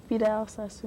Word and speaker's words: Vidal Sassoon: Now, we've got Vidal Sassoon, how do you pronounce that? Vidal Sassoon.